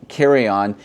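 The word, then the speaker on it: Karajan: release I actually had to look up the pronunciation for this composer's name this is Herbert von Carion and this is his complete recordings on deych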